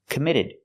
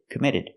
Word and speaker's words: committed: real crime was committed we hear the Double T and committed pronounced as a fast e it's between vows committed committed but no real crime was committed and the last D at the end of the word committed is a stop D not committed but